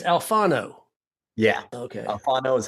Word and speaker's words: Alfano: Alfano is how to say it in Italian. Alfano is how to say it down south.